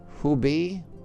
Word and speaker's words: Hubei: In I think the pronunciation is Hubei province, where Wuhan, a city of more than 11 million residents, China said there were just 1,290 deaths.